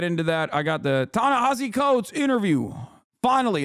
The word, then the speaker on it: Ta-Nehisi: Please don't call him Ta-Nehisi. It's Ta-Nehisi. No, you're wrong. No, Ta-Nehisi is the way you're supposed to say his name.